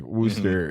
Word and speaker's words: Worcester: It's just, nationwide is Worcester, Massachusetts, where it's like, I believe it's like it's spelled like Worcester, but it's like Worcester. And it's like, that's not right. That's where you missed a few syllables here.